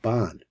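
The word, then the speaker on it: בן: So he pronounces it Ban. So we've been working. He's Sephardi, so he pronounces it Ban. We pronounce it Ben.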